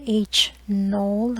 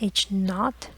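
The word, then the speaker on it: H₀: claim the null hypothesis denoted H null or sometimes pronounced H naught is a statistical hypothesis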